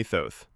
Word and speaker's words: Thoth: I am Thoth, and before you ask, yes, you can call me Thoth. It rhymes with both. Or growth.